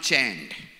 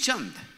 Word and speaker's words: Chand: my name is not chained my name is Chung Chung like that's the pronunciation of my name chant so I came to